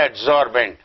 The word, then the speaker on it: adsorbent: The phenomenon of some substances called adsorbate, adsorbent, adsorbent rhyming with solvent.